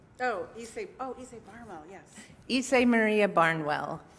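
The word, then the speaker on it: Ysaye: Issei Barwell, yes.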